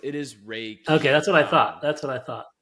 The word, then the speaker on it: Reiki: when you said you did that she did Ricky on you what does that mean that's a yeah that's a great question because not everyone is am I pronouncing it wrong is it Ricky or ra Reiki no it's it is Ray